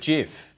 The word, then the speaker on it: GIF: invented gibbs images has finally come down and said how that's meant to be pronounced and it's meant to be pronounced jeff i disagree with him